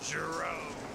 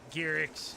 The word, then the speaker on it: Giroux: And starting on the pole, the 075 of the Philly Flyer, Trevor Giroux. Sorry there, Trevor. I meant Gearix. I didn't mean to mispronounce it here.